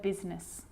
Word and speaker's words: business: The I is not usually silent. It's usually pronounced, except in the word business.